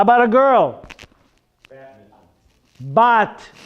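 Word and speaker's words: בת: Bat, no bet. Bat.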